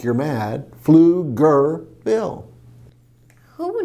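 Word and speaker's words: Pflugerville: you're trying to say flicker go it's the p is silent flew like you're flying right flew gir like you're mad flew girl who would name a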